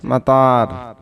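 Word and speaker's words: مطار: আরবি শব্দটি সেটি হচ্ছে মাতার মানে হচ্ছে বিমানবন্দর বা এয়ারপোর্ট বিমানবন্দর বা এয়ারপোর্ট যখন আরবি বলবেন তখন একটু জোর দিয়ে বলবেন একটু দীর্ঘভাবে উচ্চারণ করবেন মাতার মানে হচ্ছে বিমানবন্দর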